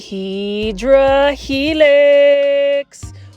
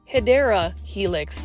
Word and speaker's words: Hedera helix: then here is a HRA helix or the correct way to say it is hedera Helix the English ivy this